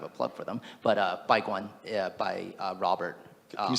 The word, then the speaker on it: Baiguan: But Baiguan by Robert. Can you say that more slowly? Yeah, it's spelled B-A-I-G-U-A-N.